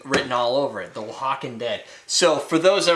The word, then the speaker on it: Oaxacan: got like Kiki written all over it the wakan dead so for those that are like that's not how it's spelled this is a it's a Spanish word